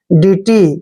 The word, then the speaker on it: deity: देखिए डी का उच्चारण क्या कर रहे हैं, डे, और EI को हम छोटी की मात्रा पढ़ते हैं, TY को टी पढ़ेंगे ऐसे। DT, DT मीन्स क्या होता